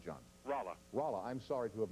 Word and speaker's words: Rolla: Rolla. Rolla. I'm sorry to have mispronounced it, sir.